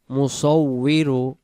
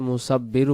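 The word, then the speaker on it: مُصَوِّرُ: জবর বা এক আলিফ মুসাবিরু সূরাতুল হাশরের ক্ষেত্রে যদি আমরা শেষের শব্দটি মুসাব্বিরু পড়ি তাহলে এই জায়গাটা ওয়াও অক্ষরটা বা রূপান্তরিত হয় এই জায়গায় হলো মিম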